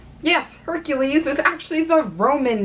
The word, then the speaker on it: Heracles: you might be wondering why I'm pronouncing Hercules rather than Heracles yes there is a difference Heracles is technically of the correct way of pronouncing it because it is Greek yes Hercules is actually the Roman